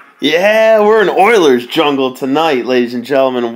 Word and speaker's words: Euler: Now, you probably already noticed I pronounced this word a little bit funny compared to maybe what you expected, and let's get that straight right off the bat, that it is pronounced Euler.